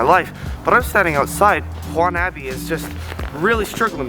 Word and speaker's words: Juan Abbey: It's spelled Juan Abbey. Emphasis on the Juan, you know, wannabe.